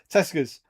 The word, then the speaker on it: Tesco: That was an That was a proper northern pronunciation of Tesco's, wasn't it? Tescus.